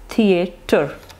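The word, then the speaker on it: theatre: अच्छा, कहने में अब इसकी आपने प्रोनाउंसिएशन बिल्कुल गलत नहीं करनी, टी एच ई थी थी ए एक की आवाज़ निकलनी चाहिए, थिएटर, हाउ we will pronounce it, थिएटर।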